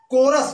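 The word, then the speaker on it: chorus: यहां पर देखिए कोरस, कोरस मीन्स होता है गायक दल। सी प्लस एच है तो इसका उच्चारण क्या होगा? क होगा।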